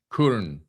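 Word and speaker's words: Qurn: I think it's Kurn. L Q U R N. Kurn. El Kurn. That's what That's how you say it.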